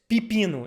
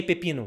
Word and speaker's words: pepino: four we say that we pronounce that as Pipino instead of Pepino but you can say Pepino whatever but most of